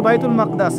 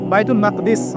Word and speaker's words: বাইতুল মাকদিস: এবার এই বোরাক চলে গেল বাইতুল মাকদাস। এটা কোথায়? বাইতুল মাকদিস, বাইতুল মাকদাস না, বাইতুল মাকদিস।